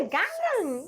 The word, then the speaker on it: Gangneung: Did I pronounce it correctly that time? Gangneung.